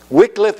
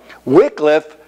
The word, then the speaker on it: Wycliffe: then to John Wycliffe and Wycliffe is how most people in England and here uh pronounce that person's name and so this is